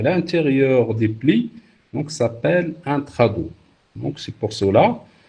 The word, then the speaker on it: intrados: Donc on ne prononce pas le S à la fin, on ne dit pas extrados et intrados.